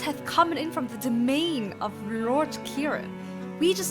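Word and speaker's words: demesne: Domain. Domain? It's pronounced domain. Demean.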